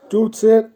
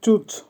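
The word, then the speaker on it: чуть: চুচ, চুচের অর্থ হবে একটু। উচ্চারণ হবে চুচ।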